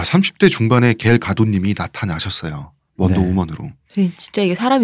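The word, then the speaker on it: Gal Gadot: 원래 발음은 이쪽이 더 가깝대요. 갈 가도트.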